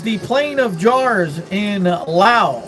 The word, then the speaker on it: Laos: plane of jars in lao or laos as we say here in the united states but the proper way to say laos is lao with the s being silent uh and when i